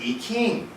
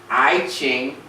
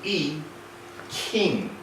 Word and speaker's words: I Ching: it's called the 64 hexagrams it's called the e king yes the pre the correct pronunciation is not i ching or e gene it is e king king the correct pronunciation of chi is ki